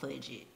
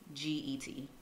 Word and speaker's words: Fudget: I just usually write it down, or I use this app called Fudget. Budget? Mm-hmm. Spell that out for the people. Fudget. Just like budget, but with an F.